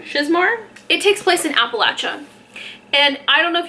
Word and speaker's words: Appalachia: two I I've been told so many times that it's Appalachia so I'm pronouncing it Appalachia so don't go into my comments and be like it's pronouncing Appalachia no it's Appalachia and there's just been